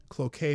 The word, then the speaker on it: Cloquet: Here, I'mma spell it in the chat. It's cloet. C L O Qu q U T Cloquet Minnesota.